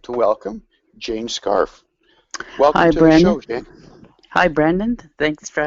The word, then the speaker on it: Scharf: your last name please a scarf just like around your neck that's that's what I